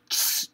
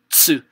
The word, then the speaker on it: つ: So you were saying chisu, chisu, chisu, chisu, chisu, chisu, chisu, chisu. So you're saying very fast until you say actually at once, tsu, okay? It has to be pronounced as one sound, tsu.